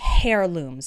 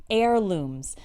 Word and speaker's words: heirloom: Notice that the first h in this word is silent. We don't say heirlooms. Okay, that's not correct. It's heirlooms.